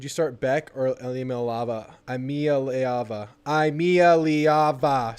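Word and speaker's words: Iamaleava: Imialiava. Imialiava. 6 syllables.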